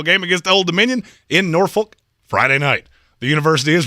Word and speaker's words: Norfolk: well it would be nor folk it would not be they would not be called nor folks no it's norfolk the l is silent well here's the thing